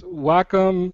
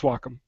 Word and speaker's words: Wacom: well yeah it's it's Wacom it's a it's a Japanese word it's not wcom for sure uh some people pronounce it Wacom or or or anyway I I believe it's Wacom anyway I've gone to